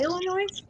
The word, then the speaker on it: Illinois: Have we gone to Illinois? Yeah. The S is silent.